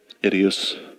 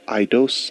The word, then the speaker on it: Eidos: Idios. No, not Idios. Eidos.